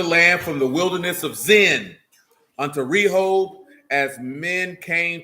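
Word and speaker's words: Zin: it's literally called it's it's pronounced zen in english z-i-n hold on let me grab the first place what'd you say say that again oh number 13.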